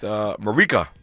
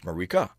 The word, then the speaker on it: Marique: It's spelled Marique, which looks like what? Marique, but it's not Marique. It's Marique. Marique B. Moss is how you pronounce it, and she has a